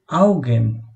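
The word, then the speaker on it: Augen: আউগেন, যার অর্থ চোখ। এখানে দেখুন আ উ গে এ এন, অর্থাৎ আউগেন। আ উটা আউ এর মতো উচ্চারণ হচ্ছে এবং এটার বাংলা অর্থ চোখ।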